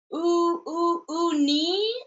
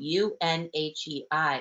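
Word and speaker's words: Unhei: "Uni," the kids chanted. "No, no," Unhe corrected. "It's spelled U-N-H-E-I. It's pronounced Unhe."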